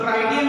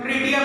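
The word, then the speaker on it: tritium: और एक और वेरिएंट इसका मिलता है ट्रिटियम, कुछ लोग ट्राइटियम भी कहते हैं, आपके ऊपर डिपेंड करता है प्रोनाउंसिएशन पर चेक कर लीजिएगा। इट इज ट्रिटियम actually.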